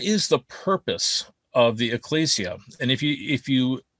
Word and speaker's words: ecclesia: um ecclesia we say i hear people say ecclesia all the time but according to strong's and thayer it should be pronounced ecclesia so just so you know ecclesia and i am going to say either ecclesia